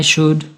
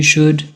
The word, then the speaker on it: should: I should, you should, he should, she should, it should, we should, they should. They all use should. We do not pronounce the L in the word should.